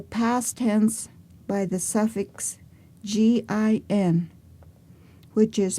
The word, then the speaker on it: gin: or predicate the past tense by the suffix g i n which is pronounced gin that is past tense in Yavapai